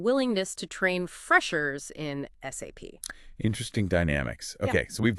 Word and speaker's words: SAP: SAP. It's an ERP system. Enterprise resource planning. Helping businesses plan and manage their resources effectively. And crucially, always spell it out. SAP. Don't say SAP.